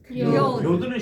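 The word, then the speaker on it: יוד: 요드는 쉬워요. 이렇게 우리가 그 작은 따옴표의 그 반대 방향식으로 이렇게 쓰는데 요거는 그냥 Y 그 발음을 그대로 내면 됩니다.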